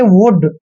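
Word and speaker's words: would: वुड में क्या है वुड में वही कंडीशन है सेम की डी से पहले एल आया है और एल का उच्चारण हमने नहीं करना जब भी डी से पहले एल आए तो एल को छोड़ देना का उच्चारण नहीं करना है और दूसरा रूल है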